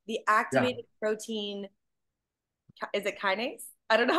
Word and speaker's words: kinase: Is it kinase? I don't know how to say it. Is Very good. Yeah, kinase.